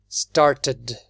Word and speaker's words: started: Sometimes we pronounce it like an id. The ed is like an id. For example, started. Started.